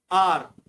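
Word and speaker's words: hour: अगला है sixth आर, आर इसमें एच साइलेंट रहता है।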